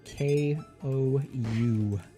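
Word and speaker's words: Kou: It's spelled K-O-U. Ko.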